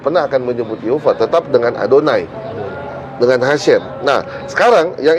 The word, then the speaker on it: Adonai: ini dalam bahasa Ibrani saya mefora bacanya bukan Yahweh bukan yova adonai atau hasem sudah dari sana aturannya